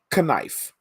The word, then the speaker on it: knife: You know, and then it gets to English and all of a sudden it's silent.